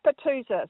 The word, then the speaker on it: Petousis: she joins us now how do I pronounce that middle word ptosis is that right you're pretty CH it's pusis yeah not to be confused with petasus otherwise